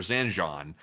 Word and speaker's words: Zanjan: We're also getting another video of ballistic missiles being launched from Zanjan, Iran or Zanjon that's how you say it.